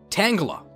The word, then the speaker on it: Tangela: Tangela.